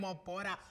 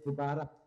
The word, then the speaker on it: Mobara: Mobara. I hope I said your surname correctly. Yes, it's pronounced correctly, Mobara.